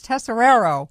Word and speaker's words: Tesoriero: Tesoriero, oh, for goodness sakes, Tesoriero.